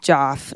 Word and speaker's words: Jeff: well actually it is it's spelled Jeff pronounced Joff name for no no